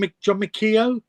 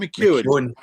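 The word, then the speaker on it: McGeoch: I mean, I always get mixed up how you pronounce this, Gordon. John McKeown. John McKeown. John McEwen. McKeown. Is that what McKeown.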